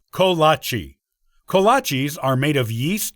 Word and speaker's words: kolache: Let's start with the pronunciation, which is ko-lah-chee.